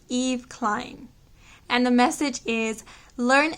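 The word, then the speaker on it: Yves Klein: pronounce this name and i believe it's pronounced eve klein and the message is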